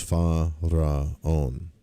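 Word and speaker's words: Faraon: Focus on the pyramids and the correct pronunciation of the mantra is fa raon.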